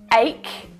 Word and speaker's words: ache: But in the word ache, it's pronounced like a k Ache.